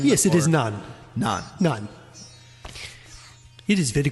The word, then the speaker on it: naan: By the way, what is the correct pronunciation of the bread there? Is it naan or nan? Yes, it is naan.